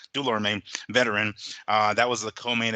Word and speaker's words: Dulorme: I can always get his name wrong. Dulorme, because I want to say like Dulorme. I Yeah, end up in the Dulorme. E and the O. I call him Dulermo or something. So Dulorme, veteran.